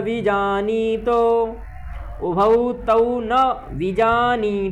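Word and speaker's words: विजानीतो: में का उच्चारण करें विजनी तो में ई जो है दीर्घ है तो विजनी तो बजानी तो नहीं करना विजान तो बजानी तो ऐसा करना है नायम हंति न हनते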